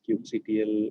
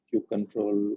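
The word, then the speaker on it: kubectl: man M to like Cube CTL or cube control or cube cutle however you would like to pronounce it which we will see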